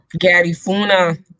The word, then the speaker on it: Garifuna: I'm gonna say it right because Garifuna, Garifuna, Garifuna.